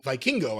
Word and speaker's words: Vikingo: do it oh he although vikingo I believe is the actual pronunciation they use yeah the thing where